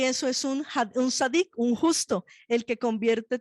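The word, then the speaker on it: צדיק: La palabra justo en hebreo se dice sadik. Sadik se escribe con T de tetero, Z, A, D de dedo, I y K.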